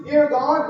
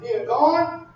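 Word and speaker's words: נרגן: One is pronounced near gone, just like Morgan, but it's pronounced near gone.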